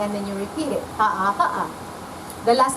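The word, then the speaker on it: Haʻa: Ha'a. The last letter? A.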